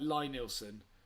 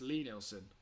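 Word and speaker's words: Lie-Nielsen: If he's trying to make me say it like Lie Nielsen, then no, I'm not going to fall for that bait. It's Lee Nielsen. I used to say it the wrong way because I'm sure I'd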